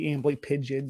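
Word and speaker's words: amblypygid: let me know that the uh proper uh pronunciation due to it it's uh Greek origin would be ambly pigeon so I started using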